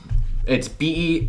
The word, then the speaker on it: Bernthal: was I like John Bernthal, but yeah, I like John Bernthal too. I'm not saying John Bernthal is not doing a great job. Is that how you pronounce his name? Bernthal? It's Bernthal.